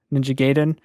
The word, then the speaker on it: Ninja Gaiden: elephant in the room there are multiple pronounces pronunciations of ninja gaiden a lot of people say Ninja Gaiden Ninja Gaiden Ninja Gaiden I grew up saying Ninja Gaiden that's what